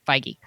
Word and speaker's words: Feige: to say it because who knows how to say kevin feige but now we know feige uh he's involved to